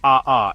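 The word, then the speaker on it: ʻaʻā: Aha pronounced aha is the opposite.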